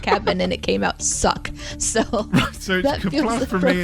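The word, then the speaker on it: suq: this okay all right s-u-q which i assume is pronounced suck yeah very guttural uh i don't understand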